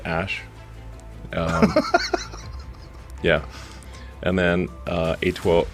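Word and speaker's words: Æ: X um and then the AE is like pronounced Ash um yeah and then uh a12 a12 is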